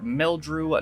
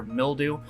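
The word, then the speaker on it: Meldrew: reaction and richard wilson's character name is victor mildrew not victor mildew to be fair you're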